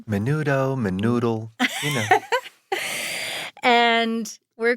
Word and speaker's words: Menudo: At the age of 14, he joined a Latin sensation band called Menudo. Is that how you pronounce it? Did I get that Yes. right? Menudo, Menoodle, you know.